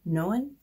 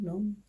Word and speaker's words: Noan: is from the brand, I believe it's pronounced Noan, like Joan, Noan, I don't know, I think that's how you say it.